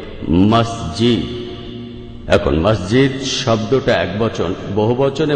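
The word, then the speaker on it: مسجد: আসলে মিশরী আরবি শব্দ যেটার সঠিক উচ্চারণ হবে মাসজিদ এখন মসজিদ শব্দটা একবচন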